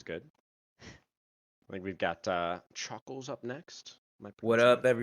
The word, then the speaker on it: Choockles: I think we've got Choockles up next. Am I What pronouncing up, that correct?